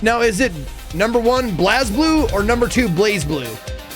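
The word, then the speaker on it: BlazBlue: Under baby under baby it's pronounced blaze blue the voice in New Zealand it's blaze blue.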